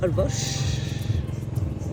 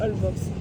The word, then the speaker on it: Holbox: Alors, bienvenue à Holbox. Merci de dire Holbox et pas Holbox. Ah, je dis Holbox. Ça s'écrit Holbox.